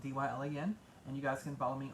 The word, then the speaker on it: Dylan: and dylan is spelled d-yl and you guys can follow me on facebook at dylan people toys call me dialect but it's not dylan um so anyway you